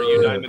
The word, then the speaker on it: Eudaimonia: Eudaimonia would be 4. Eudaimonia. Eudaimonia is 5. It is 5. Eudaimonia. One line. Eudaimonia. Okay, then it's 5.